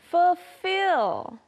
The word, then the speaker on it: fulfill: Next we have fulfill. Even though there's an L there, we usually don't pronounce it. We usually just say fulfill, fulfill.